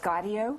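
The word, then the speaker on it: Gaudio: you Daniel Rashard your character is Bobby it's pronounced gardo gardo gardo okay and now I saw him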